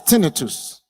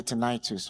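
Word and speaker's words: tinnitus: to receive the sound another one is tinitus others will say tenitis I think the Americans say tenitus right okay so tenitus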